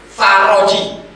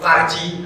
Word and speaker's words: فرج: Doa Siti Aisyah, ya, doaul faroji bacanya, jangan salah baca. Doaul faroji, jangan dibaca doaul farji.